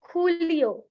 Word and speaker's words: Julio: That is Junio, Julio. Everyone on their mic can speak. Junio, Julio. Julio. So J in Spanish is pronounced as K, K-H.